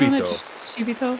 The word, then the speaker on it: Shibito: Shibito. That's right. It's the second I after the B that you inflect.